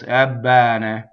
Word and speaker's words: bene: So if you notice the B doubles, bbɛne, right? Bbɛne.